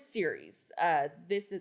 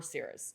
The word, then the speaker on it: Ceres: The first one is Ceres. Or Ceres, depends on how you say it.